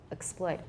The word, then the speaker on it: exploit: Exploit. I have a full vowel on X, by the way.